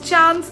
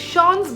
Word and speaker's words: Chance: The spelling of Chance in this can be read as Chance in English, but it is Chance because these perfumes are pronounced in a French manner.